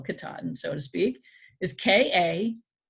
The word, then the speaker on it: Katahdin: It's different from what the real way to spell Katahdin, so to speak, is K-A-T-A-H-D-I-N. And Henry spelled it K-T-A-A-D-N. Katahdin. That's how it sounds.